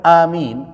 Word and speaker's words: Amin: quiah amal Imam apabila Imam mengucapkan Amin am bukan aman bacanya kalau aman beriman apabila Imam mengatakan Amin